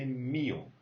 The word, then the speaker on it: mío: An accent on the E. Mío. If there would be no accent, you would say mío, but it means nothing, all right? So as there is an accent, you say mío.